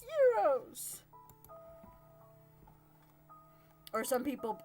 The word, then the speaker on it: gyros: hear him now saying that's not how you pronounce it it's euros or some people say heroes i'm just like the meat in the pita